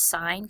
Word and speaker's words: sine: calculator, these are trig functions, and they're actually pronounced sine, cosine, and tangent, but what they do is they set up a relationship with the sides of the triangle.